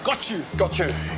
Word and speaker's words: Gochu: Gochu.